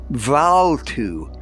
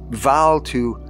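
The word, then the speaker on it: Bvalltu: old man for help valtu for such approximately was the Philosopher's name the two being pronounced more or less as in Welsh Val to affected a cure by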